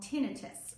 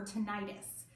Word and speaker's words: tinnitus: protect from something called tinnitus or tinnitus both pronunciations are correct but what it is